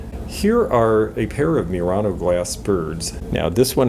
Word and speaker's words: Murano: are interested in murano which is actually murano if you're pronouncing it like an italian i'm not great with